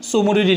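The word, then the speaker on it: Tso Moriri: सोमरीरी lake. T यहाँ पे silent है, ओके।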